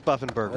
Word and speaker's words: Buffenbarger: I mean, is it Buffenbarger. Oh, it is Buffenbarger.